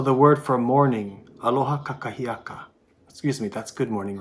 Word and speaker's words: kakahiaka: So the second K is sometimes pronounced by kupuna as kachahiaka, kachahiaka.